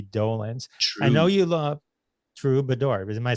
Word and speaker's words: Troubadour: the trador Mickey Dolan I know you love true bador am I saying it wrong no you're saying